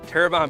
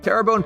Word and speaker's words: Terrebonne: wachita parish a wachita parish a wachita parish turban parish terrebonne terrabone parish tarabani terrebonne terrebonne parish just southwest of new orleans houma thibodeaux